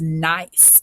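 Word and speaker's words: gneiss: turned into this and you pronounce this nice that g is silent i know it looks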